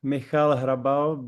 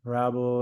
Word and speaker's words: Hrabal: Um in Czech it's like Malab, but people call me like Rabble, it doesn't really matter.